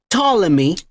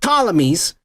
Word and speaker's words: Ptolemy: and Macedonian from the family called Ptolemy, with a P in the front. I don't know why they put a P if you don't even fucking pronounce it, you dumb motherfuckers. But Ptolemies.